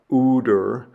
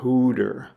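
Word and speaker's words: ὕδωρ: the word for water which again has a rough breathing Mark over it so it's not uder it's huder huder where we get the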